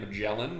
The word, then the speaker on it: Magellan: is of course ferdinand magellan which rhymes with yelling and lm watermelon all